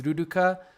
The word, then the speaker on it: Luluka: So Luluka is like the way it's written is Luluka, but the pronunciation is the same. It's Ruruka because of the hiragana, katakana.